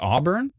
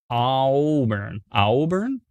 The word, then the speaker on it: Auburn: So it's supposed to be like awesome, like Auburn. AU is aw. All right. But then there's two O's in your phonetic spelling. Auburn.